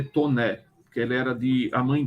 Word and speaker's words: Taunay: Visconde de tô né o nome dele é estranho se escreve Taunay com y do fim t a u n a y mas se lê tô né ela era de a